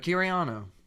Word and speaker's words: Kiryano: But Kiraniano, that's how you say it, right?